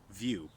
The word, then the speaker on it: Vu: a dedicated VR headset I'm going to call this the Nintendo vew but it's spelled Vu and that's you with